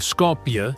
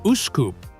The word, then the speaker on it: Skopje: the capital city of Skopje in the north. While Muslims pronounce it Uskup, the city is widely known around the world as Skopje.